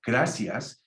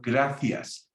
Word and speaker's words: gracias: So people from South America go, thank you, gracias. And in Spain, they go, gracias, th, like TH, th.